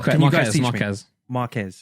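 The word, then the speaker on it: Marques: why I think Marcus Brown people- sorry, what's his? Marcus Brownlee, I can never- MKBHD. I can never pronounce his name. Oh, yeah, yeah. Can you guys teach me? Marquez, Marquez.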